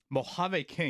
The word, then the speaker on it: Mojave King: Mojave King.